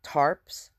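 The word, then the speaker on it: Tharps: as women, said Laurie tarps. Okay, I'm just taking that the H is silent.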